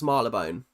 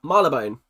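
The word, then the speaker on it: Marylebone: How do you pronounce Marleone? like that. Marabone. Mar Leone. Maria Leone, not Mary Leone.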